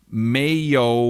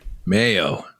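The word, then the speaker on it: 没有: and no is pronounced mayo which i think sounds like mayo like mayo mayo yeah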